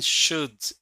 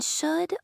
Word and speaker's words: should: Which consonant isn't pronounced in should, would, and could? In should, would, and could, the letter L is silent.